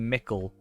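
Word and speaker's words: Michel: were better because it's supposed to be mickel is what i've been told but i'm still like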